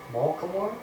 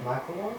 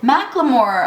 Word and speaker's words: Macklemore: It's not Malcolm, it's Macklemore. Wait, what? Did you say Malcolmore? Malcolmore, what's his name? Macklemore. Macklemore? What did I say? Malcolmore? Brandon just told me what I said. What, mister? Malcolmore?